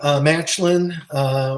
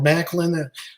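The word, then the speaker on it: Maclin: miguel defended against steve matchlin or macklin i heard dilo brown pronounced it uh macklin while tom hoffman pronounced it matchlin so we have two different uh last name pronunciations for him um trey miguel retained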